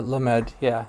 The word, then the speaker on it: lamed: How do you pronounce that, Jay? Yeah, the lamed, the Yeah, Hebrew, the lamed.